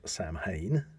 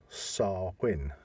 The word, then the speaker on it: Samhain: most people and I have heard people uh pronunciate it as Sam Hayne yeah but it should be SAR Quinn really yeah no that's interesting because obviously we